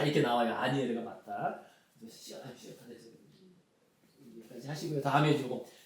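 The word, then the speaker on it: Asnières: 아니에르, 그죠? 아스니에르가 아니라 S는 묵음이다. 그래서 아니에르다.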